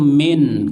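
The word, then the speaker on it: من: Ya, yang huruf itu min, kalau man bukan huruf. Ya, bacanya min, yang sering diterjemahkan dari.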